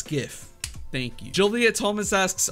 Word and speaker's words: gif: I love everyone keed is it gif or Jif gif or Jif it's literally gift it's the first one you put it's that's how you spell it you don't spell it with a J it's spelt with a gee-gees do not go G they go get so it's gif Thank You Julia Thomas